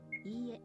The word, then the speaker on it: ie: When dealing with repeated vowels such as e, you draw out the length of the sound. It's not quite the same as repeating the vowel twice.